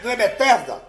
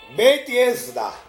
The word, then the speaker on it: Betesda: Não é Betesda, né? É mais aproximado de a palavra, a pronúncia é Beit-Esda, né? Beit-Esda. O correto é Beit-Esda, é o mais aproximado.